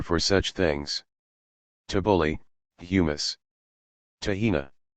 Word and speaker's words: Tahina: Tahina. Pronounced takhina by most Israelis, and local flatbread, Arabic kubez, called pita.